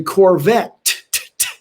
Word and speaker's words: Corvette: you don't say and a corvette which has two t's and an e on the end which you you do say one of the t's so it's neil degrasse